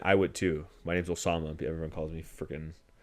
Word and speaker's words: Osama: My name's Osama. Everyone calls me freaking. I had one supply teacher call me Kwasama. He thought the O was a Q.